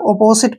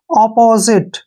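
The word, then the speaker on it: opposite: इसको जो है ना अक्सर आप अपोजिट पढ़ते हैं जो कि गलत है यहां पर ओ का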